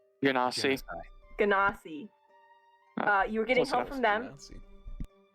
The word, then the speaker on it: Genasi: I don't know how to say their name, but Genasi? Ganassi.